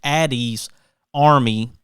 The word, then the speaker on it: Ady's Army: that there's no confusion addie is spelled a-d-y so it's addie's army and you can go